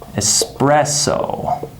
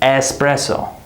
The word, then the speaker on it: espresso: So, adults enjoy, and the next word, espresso. We don't say espresso. We say espresso. That same schwa sound, right? Espresso, espresso, because this syllable is unstressed and reduced, right?